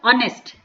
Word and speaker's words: honest: ठीक है, अब इसमें एच साइलेंट है क्योंकि हम इसको क्या प्रोनाउंसिएशन करते हैं, इसका ऑनेस्ट, ओ बोलते हैं, तो यहाँ पे क्या आ जाएगा मेरा एन ऑनेस्ट मैन।